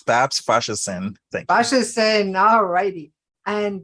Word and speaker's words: Babs Faseesin: I'm really excited to have my new friend Bobs fashin no now I pronounce it wrong tell me how do you pronounce your name again BBS it's Babs Bashers thank Bashers all righty and BBs is the